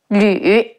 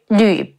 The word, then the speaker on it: Lü: And don't mistake the surname Lu with Lü, Lü, Lü Bu. Lu and Lü are two totally different characters and their pinyin look